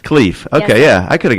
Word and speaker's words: Khleif: It's Khleif. Khleif.